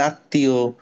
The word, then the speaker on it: আত্মীয়: জন্য আমি কি বলেছিলাম শব্দের মাঝখানে বা শেষে যদি ম ফলা আসে তাহলে ওই ম ফলার কারণে উপরে যে লেটারটা থাকে ওটা ডাবল হয়ে যায় তাহলে আত্মীয় পদ্মা হুম তারপরে ধরো